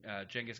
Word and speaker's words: Genghis: Alexander the Great and Genghis Khan, the two, empires. It's pronounced Genghis historically. Genghis. I wish it was the other way around, listeners, but it's not. It's pronounced Genghis Khan.